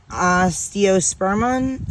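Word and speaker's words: Osteospermum: yeah these are the african daisies so um osteospermon sperm mom that's how you say it but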